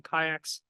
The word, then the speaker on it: CAIC: In Sergey's presentation, he called it something called CAICs, or you might call them kayaks, pronouncing acronyms.